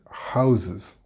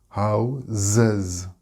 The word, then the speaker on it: houses: Note the pronunciation sound houses, houses. We have two Z sounds here.